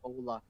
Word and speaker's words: hola: Hola is Buenas. actually the H is silent in Ola.